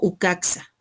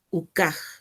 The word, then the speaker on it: ucaj: La pronunciación va a ser ucaj, no ucaxa, sino ucaj.